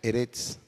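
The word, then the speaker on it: אֶרֶץ: un habíamos dicho que la tierra en su original se pronuncia heret y el mundo en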